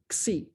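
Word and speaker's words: xi: isn't that beautiful and that is called the greek letter c and that's how you say it at least that's how i've been told c that's the greek letter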